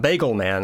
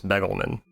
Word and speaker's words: Begelman: Not Bagelman, I think it's Begelman.